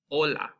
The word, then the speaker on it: hola: And then you have, this isn't hola, right? It's hola because the H is completely silent.